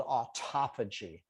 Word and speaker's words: autophagy: so this researcher started studying a process called autophagy that's how you pronounce that word and they found out that